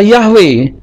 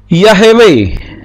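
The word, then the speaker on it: יהוה: ini supaya hanya mati tetapi ini juga tidak bisa dibaca yahwe tetapi yahewe ya tidak bisa dibaca yahwe tapi yahewe kenapa karena dibaca yahwe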